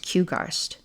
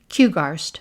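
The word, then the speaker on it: QGARST: will could end up shutting down q-g-a-r-s-t it's pronounced kugarst Lydia corrected kugarst short for quercus Grove Animal Rescue society and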